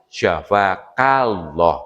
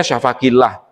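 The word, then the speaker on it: شفاك الله: Kalau laki-laki, syafakallah, pakai K, fathah. Kalau perempuan ki, anti, antuma, antuna. Kalau anta, antuma, antum. Syafakallah kalau laki-laki. Kadang sering salah, yang didoakan laki-laki bacanya syafakillah, salah.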